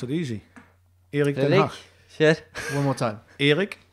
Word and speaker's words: Erik ten Hag: First of all, can you teach us the right pronunciation? Erik ten Hag. Okay, we'll have to practice that. No, but you should, in Norway, you should be able to pronounce it easy. Erik ten Hag.